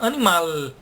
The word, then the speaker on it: animal: A palavra animal, que a gente pronuncia com som de U, a gente deveria pronunciar animal, com som de L.